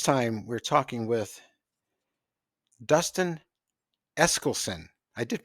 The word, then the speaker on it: Eskelsen: Most people say Eccleston, I know, but I see that S there, and I'm assuming that that's pronounced.